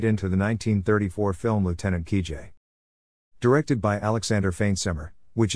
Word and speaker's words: Kijé: The sound is a voiced SH, and sounds like the S in measure when said by a speaker of American English.